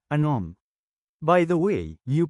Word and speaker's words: anom: ANUM is number 6 in Bicol. Change A to AH and U to OH, then pronounce it as Anom.